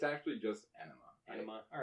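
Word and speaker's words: Ænima: around when Ana was released how do you pronounce it Ena anaa it's it's actually just enaa all right cool people get that confused all the time I know they're always like Ona I'm like you can call that if you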